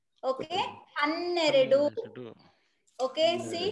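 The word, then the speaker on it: ಹನ್ನೆರಡು: Hanneredu. Okay. See how to pronounce. See ha ne ra then do. See? Hanneredu.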